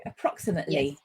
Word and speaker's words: approximate: So when we have an adjective or a noun that ends in ate, we pronounce that ut.